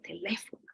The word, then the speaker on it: teléfono: tú dices, por ejemplo, en teléfono, tú dices que tú no dices teléfono, tú no dices teléfono, tú no dices teléfono, tú dices teléfono. ¿Cuál es la sílaba tónica? Le. Las otras son más suaves.